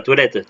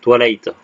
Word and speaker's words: Twilight: Pas Toilette, Twilight, si je prononce mal. J'articule mal.